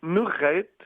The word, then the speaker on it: Nurrait: Est-ce que j'ai prononcé comme il faut Nurette ou il faut le dire autrement? On dit Nourette, mais Nourette.